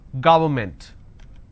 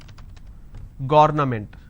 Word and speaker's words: government: do I pronounce this ga it's ga word government and you pronounce this when you make a mistake as garment so don't say it's government it's government environment